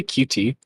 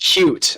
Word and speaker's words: Qt: Wait, did you say QT? Yes. Quick trip in that graphic. That graphics library that I hate. Oh, you What's wrong with It's pronounced cute apparently.